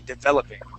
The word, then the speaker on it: developing: developing there you go so the accent is going to go on that second e developing right developing there you